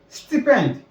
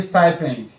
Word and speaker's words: stipend: Next word, Nigerians call this one stipend, but it's actually stipend. Stipend.